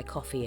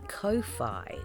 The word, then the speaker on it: Ko-fi: box along with my coffee account which by the way I think I've been mispronouncing this whole time I think it's supposed to be Kofi like Loi but anyway um if